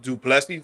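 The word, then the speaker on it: Du Plessis: So that's how you pronounce it, Duplessis, not Duplessis.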